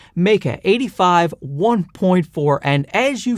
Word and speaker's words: Meike: this one right here this is the me that's how they pronounce it me 85 1.4 and as